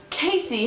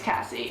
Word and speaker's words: Cassie: go, representing Interact Club, Casey. And I was like, ha. If you don't know, my name's Cassie, and it's spelled C-A-S-S-I-E, like the singer.